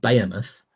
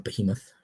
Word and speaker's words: behemoth: It's quiet if you're not releasing against a certain rockstar behemoth, or behemoth, depending how you like to pronounce that word, that has now been delayed into spring 2018, and that is Red Dead Redemption 2.